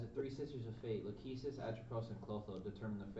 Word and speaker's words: Lachesis: How do you pronounce that? What were you going to say? So it's Clotho, Lachesis, and Atropos. Lachesis.